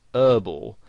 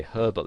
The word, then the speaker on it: herbal: would pronounce it whereas in british english you would pronounce the h and you would say herbal essences and you might